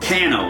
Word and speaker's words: Canoo: There's another EV manufacturer, I believe, that is going bankrupt, and they are called Cano. It's spelled Canoo.